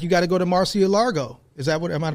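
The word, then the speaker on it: Mar-a-Lago: a republican like you got to go to marcia largo is that what am i pronouncing that right mark yeah you are velvet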